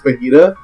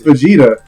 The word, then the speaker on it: Vegeta: from Dragon Ball Z he kept pronounce his name is fajita and I was like no it's Vegeta in your life no